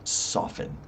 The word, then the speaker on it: soften: soften is used uh you don't pronounce the t soften um so what can you say you can say no worries or what else you can say No worries.